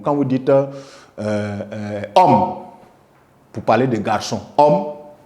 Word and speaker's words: homme: un H mu c'està-dire un H qu'on ne prononce pas quand on dit le mot quand vous dites euh homme pour parler de garçon